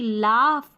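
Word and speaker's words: laugh: अब देखिए जी एच कहीं-कहीं पर जो है फ की ध्वनि देते हैं। जैसे कि लाफ, यहां पर है कॉफ, टफ, इनफ और रफ। तो यहां इन सारी स्पेलिंग में देखिए जी एच आ रहा है ना? याद कर लें इनको। इसको हमको फ पढ़ना है।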